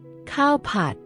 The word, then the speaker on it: ข้าวผัด: Cowpot.